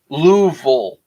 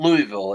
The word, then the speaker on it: Louisville: Louisville. Is it Louisville? So it's not Louisville, it's Louisville. So it's not like Louisville Slugger, it's Louisville.